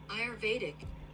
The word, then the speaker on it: Ayurvedic: still feel a little congested tiny bit Ayurvedic Ayurvedic in Ayurvedic practice It is known as Merchie